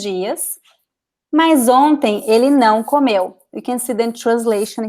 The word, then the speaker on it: comeu: So this is past tense, and in past tense, the stress is at the end. Oh, oops, that's not what I wanted to do.